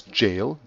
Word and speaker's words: gaol: and died in jail this is an old English word which is in pronounced as jail gay a gaol so